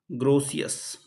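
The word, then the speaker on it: Grotius: ग्रोसियस। ठीक है? ग्रोसियस। ठीक है? ग्रोसियस। टी साइलेंट है यहां पर।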